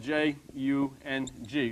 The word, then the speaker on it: Jung: But Carl Jung, and his name, incidentally, was spelled J-U-N-G. It's pronounced Jung.